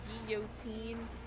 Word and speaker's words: guillotine: We actually pronounce it guillotine. The double L becomes the W.